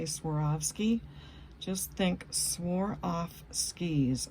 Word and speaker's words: Swarovski: And if you ever wanted to know how to say Swarovski, just think swore off skis. I swore off my skis, and you'll never have a problem saying Swarovski again.